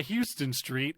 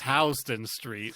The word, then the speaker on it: Houston Street: pronounce it but like in new york it's not houston street it's houston street and it's like [